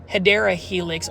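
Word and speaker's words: Hedera helix: 1 2 3 Helix or the correct way to say it guys, say it with me. Hideera helix or the English ivy.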